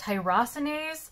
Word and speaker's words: tyrosinase: learning about t positive the term is actually pronounced tyrosinase uh and it is a sort of a